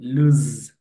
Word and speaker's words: lose: এর পরবর্তী শব্দটা রয়েছে সেটা হচ্ছে LOSE, লুজ। জো সাউন্ড।